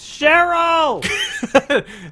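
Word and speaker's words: Cheryl: I'm trying to find my daughter her name's cherl is it it's pronounced like that yes okay oh yeah I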